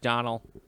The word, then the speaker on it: Domhnall: Sony sure it's just Donald Donald what Donald just Donal I think it'll spell Domna hall so yeah but he he doesn't pronounce the H Donald Lisa he said